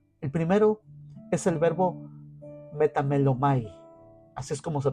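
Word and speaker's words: μεταμέλομαι: El primero es el verbo metamelomai, así es como se pronuncia, que indica un cambio de mentalidad, que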